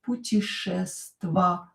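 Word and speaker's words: путешествовать: to travel puteshestvovat puteshestvovat ya not stressed pronounce it e puteshestvovat and o not stressed mhm pronounce as a Very good let's continue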